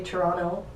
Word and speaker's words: Toronto: which doesn't clean fair if you pronounce the second T in Toronto you obviously don't live there which is true some people will say Toronto so the T the